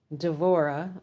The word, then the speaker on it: D'vorah: I want to give you the exact name because there was prophetus Deborah D'vorah D E V O R A H and she was a force to be reckoned with from what we've been told.